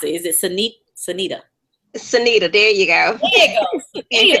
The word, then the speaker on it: Cyneta: Pronounce it. Is it Cyneta? Cyneta, there you go.